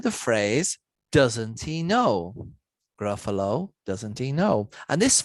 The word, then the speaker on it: Gruffalo: else something unique now the word gruffalo also doesn't rhyme with much perhaps except the word buffalo but then it kind of ends but it does rhyme with the phrase doesn't he know gruffalo doesn't he know and